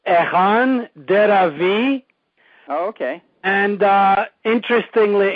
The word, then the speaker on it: Echan Deravy: to start off okay the name is usually pronounced Ean daav V oh okay and uh